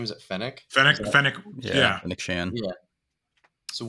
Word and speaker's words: Fennec: Fennec.